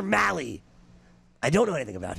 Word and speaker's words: Mahle: malli I see and he knows he corrected me Tyler Molly I don't know anything